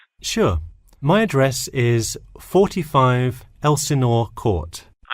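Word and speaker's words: Elsinore: My address is 45 Elsenor Court. I'm sorry. Was that Elanena? Could you spell that for me?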